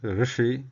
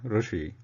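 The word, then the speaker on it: ऋषि: Same thing as Rishi, not Rishi.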